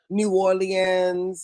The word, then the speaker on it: New Orleans: People who are not from New Orleans like to say things like New Orleans or New Orleans and it's just New Orleans.